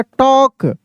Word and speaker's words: talk: TALK, टॉक, ऐसे, टॉक, टाल्क नहीं, टॉक।